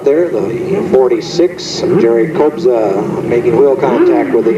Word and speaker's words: Kobza: It's spelled K-O-B-Z-A, Kobza.